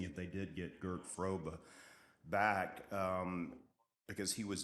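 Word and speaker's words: Fröbe: bring Gert frobe um I think his his last name is actually pronounced froba but uh they're gonna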